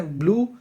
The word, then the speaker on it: blue: ایک رنگ کا نام ہے نیلا، جسے کہتے ہیں بلو، مگر کچھ لوگ کہتے ہیں بلیو. بلیو نہیں کہنا، یہ بلو ہوتا ہے.